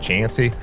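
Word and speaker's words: Chauncey: got into chansy uh it looks like it's pronounced chy but I was told it's more pronounced chansy so which is little little town where the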